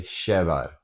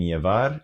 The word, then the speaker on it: llevar: and Uruguay, they'll say shevar, because they pronounce their double L more like sheh, which I don't personally use that form, but if you hear something that sounds like it should mean llevar, and but it doesn't